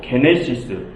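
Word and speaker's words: γένεσις: 그런데 여러분, 이 1장의 제목 게네시스 어디서 많이 들어보지 않으셨습니까? 이 헬라어를 영어로 발음하면 제네시스가 됩니다. 어디서 많이 들어보지 않으셨습니까? 바로 구약 창세기의 영어식 제목이 제네시스입니다. 그것의 헬라어식 제목이 게네시스이고요.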